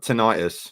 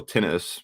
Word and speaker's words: tinnitus: hearing my hearing's a bit screwed i've got tinnitus or tinnitus where you pronounce it so i'd say get some good